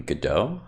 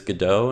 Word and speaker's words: Godot: create games this semester the pronunciation i'm pretty sure is godot not go dot but either way i think it's fine i'll understand what you're